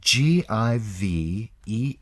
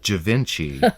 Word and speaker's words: Givenchy: Givenchy. It looks like Givenchy, but it's Givenchy.